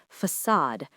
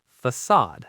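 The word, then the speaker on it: façade: That little tail is called a sadilla. And it tells you the C makes an S sound. The stress is on the second syllable. We say facade.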